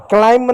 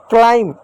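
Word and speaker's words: climb: क्लाइंब नहीं होगा। क्लाइंब नहीं होगा। क्लाइम बी साइलेंट होगा और भी कुछ शब्द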